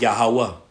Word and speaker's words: Yahweh: But his name and how it's pronounced, how it was given unto our forefather Moses, when you read it in Exodus 3, is Yahweh, which is interpreted, he